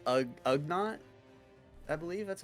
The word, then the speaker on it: Ugnaught: It's Ugnaught.